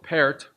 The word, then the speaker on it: Pärt: I was recently reading about the Estonian composer Arvo Pärt, and it's spelled P-A umlaut R-T. So it looks like part with something German attached to it. Pärt turns 80 this year,